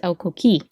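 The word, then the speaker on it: coquí: like no it's like the accent is on the i you know the second syllable it's el coqui i didn't know that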